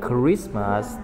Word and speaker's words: Christmas: Thì K nè, characteristic là chữ K, đúng không? Ừ, cái này đọc là Christmas, cũng chữ K luôn.